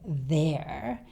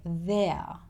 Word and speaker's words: there: Australians don't tend to say the letter R at the end of words. So he doesn't say there. It sounds more like there with a schwa sound at the end. But if this word is at the beginning of a sentence or in the middle of the sentence, we tend to drop even the schwa sound.